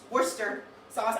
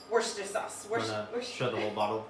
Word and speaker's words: Worcestershire: just a splash of worcestershire sauce which is worcester sauce i don't know i'm not from boston i'm